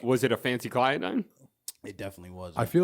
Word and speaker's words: phencyclidine: Fancy Clyodine.